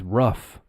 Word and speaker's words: rough: It's got it the same as thorough, but this one is rough. Rough. It's like an F sound at the end.